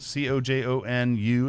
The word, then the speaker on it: Cojonu: you would pronounce it co Jo and you it's like Cajon like the drum but with you on en tone I assumed that zone